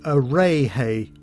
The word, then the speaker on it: Adeje: hotel at Costa Adeje, which is pronounced Areje by Spaniards apparently.